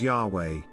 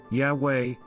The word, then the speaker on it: Yahweh: Hebrew and no vowels, the exact pronunciation is unsure. Today, it is commonly pronounced as Yahweh, Yahweh, although in prior centuries Jehovah was the more common usage because German scholars transliterated the Hebrew as JHVH. In German, J sounds like Y and V sounds like W.